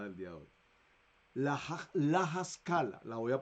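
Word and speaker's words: Haskalah: La Haskala, la voy a pronunciar, la voy a deletrear. L-A-H-A-S-K-A-L-A. La Haskala.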